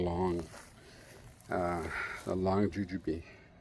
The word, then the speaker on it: Lang: I have potted the uh now I believe I've been pronouncing this lang, but I do believe it's actually long uh a long juju bee.